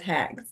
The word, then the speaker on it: H3X: I was like it's hex he was like good because h3x is a really weird name for a band I'm like why would you think that it looks like it says hex um so yeah we